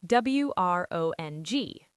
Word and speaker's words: wrong: W R O N G.